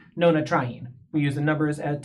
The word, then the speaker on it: nonatriene: When putting this molecule together, if the numbers weren't here, we would have an N next to a T. And phonetically, you can't really say an N sound next to a T sound. N tryin. It wouldn't make any sense. So, we add the A as a buffer syllable in order to allow the molecule to roll off the tongue a little bit more easier.